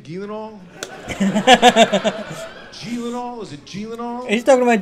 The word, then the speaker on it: Gyllenhaal: going is that how you say his name gilano is it he's talking about jake gyllenhaal good looking guy you can't last you take